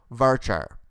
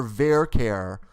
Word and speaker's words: varchar: now let's talk about varchar' or ver care depending on your dialect I say varchar' but some people say ver care that's fine rhymes with Care Bear right so here what